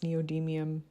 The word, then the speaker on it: neodymium: as strong as the pure I think it's pronounced neodymium bar magnet so get yourself a bar magnet